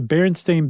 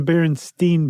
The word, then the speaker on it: Berenstain: I guess the Berenstain Bears, not the Berenstein Bears.